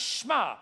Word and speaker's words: Shema: In English, it looks like Shema, but it's pronounced Shema.